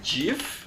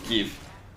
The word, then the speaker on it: GIF: is GIF or GIF I know the creator of gifts intended it to be pronounced Jif I I heard that before but I I I'm gonna pronounce it gif you know I don't care I don't care and I think most people pronounce it give even you know because it's it's kind of like Graphics you know graphics with that good sound so that's why I